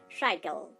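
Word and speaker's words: cycle: সাইকেল, সাইকেল দেখুন এখানে আমরা সি এবং ওয়াই পাচ্ছি, তার উচ্চারণ হচ্ছে সাই, অর্থাৎ আই সাউন্ড খুঁজে পাচ্ছি।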